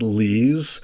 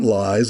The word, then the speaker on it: Lees: And that I should also say my last name is pronounced Lees, not Lies. It's spelled like lies, but it came from Luxembourg.